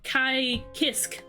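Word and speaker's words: Kiske: You just kind of say it like Kai Kisk.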